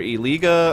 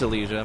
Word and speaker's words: Elijah: It's either Eliga or Elega. I don't know. Elijah? Is it Elijah? Like, yeah, it's Elijah. My bad. It's not Eliga. It's Elijah. You're right.